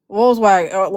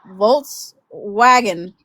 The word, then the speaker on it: Volkswagen: So, he'll come out there and say, "Yeah, call customer for Volswag Volw Wagon or something like that."